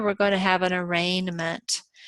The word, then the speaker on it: arraignment: But whichever path we follow here, we're going to have an arraignment. In this case, the G is silent.